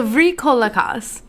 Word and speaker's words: Vrykolakas: The Vrykolakas. It's spelled Vrykolakas.